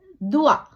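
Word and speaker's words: doigt: உச்சரிக்க படல அதே அதேபோல துவா தே ஓ ஈ ஜே தே துவா விரல் இங்க ஜே யும் தேயும் உச்சரிக்கப்படல துவா என்று தே என்ற சத்தம்தான் இருக்குது இதே நாங்கள் துவாவை தேய அழுத்தமாக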